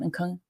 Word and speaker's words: Nkunku: Nkunku.